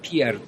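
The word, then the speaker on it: Pierre: dolayı Petrus adını almıştı Tabii Fransızca telaffuzunda Pier diye geçiyor Pier diye geçiyor diğer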